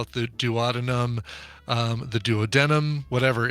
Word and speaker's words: duodenum: So Here's how OpenMD says it. Duodenum. oh yeah, They say duodenum. Duodenum. duodenum, which is that is what Dr. Jerry said.